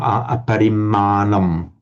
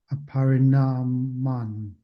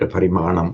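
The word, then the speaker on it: aparimāṇaṃ: Sorry, aparimanam. Long aparimanam. Aparinaman. Correct, aparimanam, yes.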